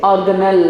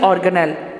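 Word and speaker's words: organelle: यस, इट इज ऑर्गेनेल level. The word is ऑर्गेनेल, ये ज़रा clear कीजिएगा, ये ऑर्गेनेली नहीं है, कोई और इसकी प्रोनाउंसिएशन नहीं है, जस्ट क्या है ऑर्गेनेल।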